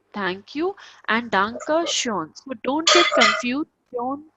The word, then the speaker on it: schön: So thank you so much is Danke schön.